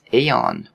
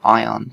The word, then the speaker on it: Aion: take a look at aeon or ion depending on how you want to pronounce it so ion or